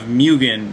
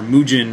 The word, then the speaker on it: Mugen: It is built in the spirit of Mugen, or Mugen, or however you pronounce it, M-U-G-E-N.